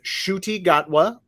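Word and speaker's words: Ncuti Gatwa: will be uh he is an actor named Shruti gatwa I looked up the pronunciation that's how you pronounce it uh he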